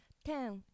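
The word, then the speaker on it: Ten: 10. Tam? 10. Pronunciation is like a number 10, but it means angel.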